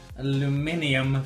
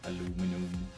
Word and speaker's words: aluminium: Aluminium foil. My American friends, that's how you say it. Silly Americans, they can't even pronounce simple words. What is wrong with them? Fucking aluminum.